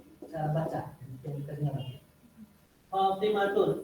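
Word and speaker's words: فاطمة: Fatimatun ini kalau kita wakafkan berhenti tun yang nggak dibaca, maka berubah menjadi suara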